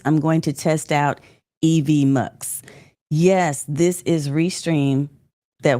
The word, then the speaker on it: EVMS: on some things too EVMS I asked Chris how to pronounce it evm so that's how you pronounce it okay thank you